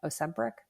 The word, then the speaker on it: Ozempic: This Ozempic thing, or am I pronouncing it right? Ozempic.